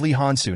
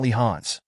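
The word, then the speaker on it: Lee Hansu: to me a him my name is leh hansu not lehans so I'd appreciate if you could pay attention to the pronunciation it's a very sensitive issue for me though I worried that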